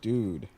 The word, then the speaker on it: Doode: Dude, how do you pronounce your name, sir? Dude.